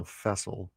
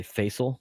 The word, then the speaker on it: Fessil: said it was vessel with an F. So, Fessil was how you pronounced it. What did I say? Facil.